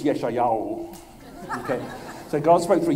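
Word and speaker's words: ישעיהו: I think you Americans say Isaiah, Australia they say Isaiah. And they're both wrong because in Hebrew it's Yeshayahu.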